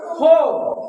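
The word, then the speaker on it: four: ফোর হবে উচ্চারণ হবে ফো ফো উচ্চারণ হবে ফো ফো।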